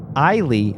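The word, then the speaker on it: Eilie: According to our friend in the real net, Tokame says that Eiley matches the katakana the best. Eiley. Okay. Are we going to switch? I'll go to Eiley.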